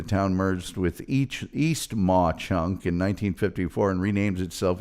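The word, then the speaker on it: Mauch Chunk: It's pronounced Ma Chunk.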